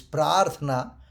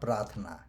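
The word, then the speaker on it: प्रार्थना: And that's why when we go to what we say, the pratna, the correct pronunciation is prarthana, not prathana.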